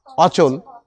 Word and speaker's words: অচল: এইতো অ যোগ চল কি হলো এতো অচল হলো না অচল তাই এইযে মানে